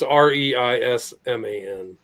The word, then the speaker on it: Reisman: How do you spell it again? Judith Reisman. It's Reisman.